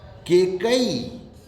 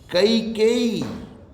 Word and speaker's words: कैकेयी: केकई, केकई राम की सौतेली माता जी का नाम था केकई, ये शुद्ध है? नहीं। कैकेयी, कैकेयी, ये बोल ही नहीं सकते, इसको उच्चारण का अभ्यास ही नहीं है हम लोगों को। कैकेयी, कैकेयी ये शब्द है।